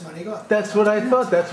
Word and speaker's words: manicotti: Well, it's not pronounced manicotti. It's pronounced manicotti.